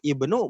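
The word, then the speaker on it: ابْنُ: Kalau bacanya ana ibnu boleh nggak Mas Jamal? Boleh, cuma lebih tepatnya ana benul.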